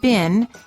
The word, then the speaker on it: been: In American English, the word been, as in how have you been, is pronounced as I, but in British English it sounds like E, the same as the food beans.